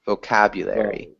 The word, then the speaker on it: vocabulary: vocabulary vocabulary so and this is a long o so vo vocabulary vocabulary yeah and this